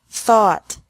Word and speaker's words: thought: taught taught think thought thought remember that the g is silent in these verbs verbs with three different